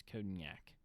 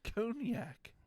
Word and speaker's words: cognac: you say it cognac i don't think it's codenyak it's cognac no cognac you are the one